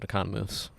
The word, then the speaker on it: Economos: Well, he pronounces it Economos.